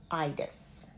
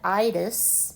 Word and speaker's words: itis: I think you cannot be in the medical profession without knowing about itis. And this one is pronounced with a long I.